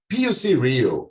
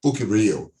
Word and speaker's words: PUC-Rio: downtown taking the subway poc rio or bouquet rio as the locals say is the oldest